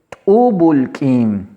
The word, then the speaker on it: t'úubul k'iin: Vamos a pronunciarlo. Chinilquín. Chinilquín. Repito, Chinilquín. La otra forma que tenemos es T'ubulk'in. T'ubulk'in.